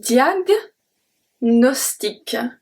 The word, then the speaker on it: diagnostic: Then the second one is un diagnostic.